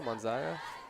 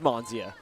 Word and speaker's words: Monia: a difficult throw there hopefully I'm pronouncing that right monia monay what do you say I'm going to let you figure this one out it's monia Mon oh monia yeah monia oh I'm completely wrong you were closer to